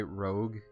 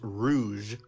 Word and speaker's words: rouge: First of all, by the way, rogue is the color. Am I pronouncing it wrong? It's pronounced rouge.